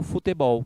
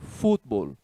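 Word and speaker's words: fútbol: Não se fala em espanhol futebol, e sim futebol. Tá vendo que a sílaba tônica é diferente?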